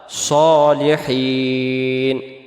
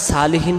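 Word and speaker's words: صالحين: উপরে, ইবাদিল্লাহিস আল্লাহর বান্দার, সলিহিন নেককার বা সৎ। সলিহিন শব্দের অর্থ হলো নেককার বা সৎ। তাহলে এটাকে আমরা সালিহিন পড়ব না, উচ্চারণ করব কি আমরা সলিহিন। আবার হিন টান দেব।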